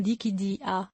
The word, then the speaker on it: Dischidia: Et notez que le CH se prononce K, donc le nom se prononce quelque chose comme Dichidia.